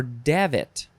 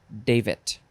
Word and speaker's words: davit: It is David or Davit.